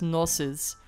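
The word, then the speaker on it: Gnosis: Also das G soll man nicht sprechen. Und am Ende ist das O, glaube ich, auch nicht so lang gewesen. Also eigentlich heißt das NOSIS.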